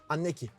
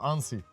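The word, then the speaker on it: Annecy: Okunuşunu doğruyu söyleyebilirim. Anneki. Yo, Ansi. Ansi. Evet.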